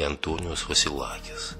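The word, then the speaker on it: Αντώνιος Βασιλάκης: основном в Венеции и окрестностях, Антонио Василаки или Антониос Василакис, так произносится.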